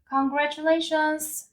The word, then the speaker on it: congratulations: Congratulations의 S 발음까지 정확하게 쓰셔서 발음하셔야 돼요. Congratulations 이렇게 하면은 축하해 가 되는 거고요.